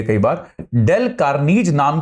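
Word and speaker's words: Carnegie: के लेख लेखक जो होते हैं हां डेल कनीज डेल सी ए आर एन ई जी आई ई इनके स्पेलिंग बड़ी अजीब अजीब होती है कई बार डेल कार्नी ज नाम के लेखक की एक किताब आई थी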